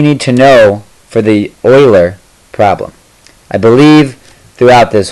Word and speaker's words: Euler: period of time while I was calling it Euler um I apologize for that it is Euler I will not be upset if you call it Euler um just know that it is pronounced Euler and I might have been pronouncing this wrong